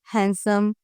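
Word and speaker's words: handsome: जैसे कि Wednesday हैंडसम sandwich तो इन सब वर्ड्स के अंदर जो डी है वो हम प्रोनाउंस नहीं करते। जैसे कि मतलब हैंडसम के अंदर एन के बाद डी आया तो हमने इसे साइलेंट कर दिया।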